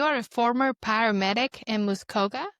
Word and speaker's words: Muskoka: You are a former paramedic in Muscoa. Did I say it right? Muskoka. Yeah. Yeah, you got it right.